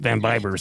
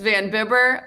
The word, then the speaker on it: Vanbiber: So I was like, I guess I'll go with Vanbiber. So yeah, sorry about that. They're all wrong. They're all wrong. How do you say it? Let's clear the record. It's Vanbiber, like a racing bib.